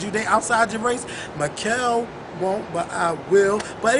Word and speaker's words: Makael: Makael86. Bitch, everybody know who you are, girl. Okay, MAKAEL, not MIKAEL or MIKEL. MAKAEL 86. MYKIEL. Who man? MYKIEL 86. No, it's MAKAEL.